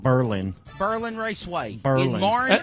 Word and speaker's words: Berlin: It's Berlin, not Berlin.